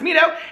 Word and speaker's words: Mito: said hey peter my name is mito pronounced mido and i'm from sudan